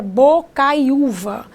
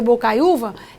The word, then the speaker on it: Bocaiuva: em Bocaiuva assim porque porque Bocaiuva é uma palavra paroxítona o que isso significa significa que ela tem a penúltima sílaba tônica então não existe acento